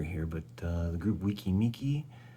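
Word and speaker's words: Weki Meki: but uh the group wiki miki that is the correct correct pronunciation because there's we and me that is the group members and the fans together represented there well this is a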